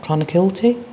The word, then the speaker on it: Clonakilty: Is that right, Clonakilty? Yeah. Good pronunciation, Mark.